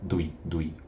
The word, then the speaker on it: Douille: Et aussi on a Douye, je sais pas si je prononce Douille. correctement. Douille, oui.